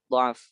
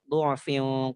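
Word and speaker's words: ضعف: Tapi dalam rasamnya ditulis dengan fathah, dha'f. Seperti itu. Dan di sini wajhul muqaddamnya malah dhammah. Syekh Mahmud Mursi memilih wajhul muqaddam untuk kata dha'f itu adalah dengan dhammah.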